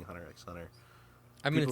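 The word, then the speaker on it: Hunter × Hunter: Even though people say don't call it Hunter x Hunter, the X is silent. I'm like, well, I like saying Hunter x Hunter.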